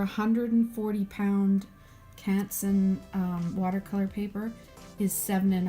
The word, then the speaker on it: Canson: is a hundred and forty Katzen or a console is the proper French pronunciation but the blade setting for this for a hundred and forty pound Canson watercolor paper is seven and a half and